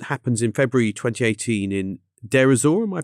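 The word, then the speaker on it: Deir ez-Zor: So this incident happens in February 2018 in Derzor. Am I pronouncing that right?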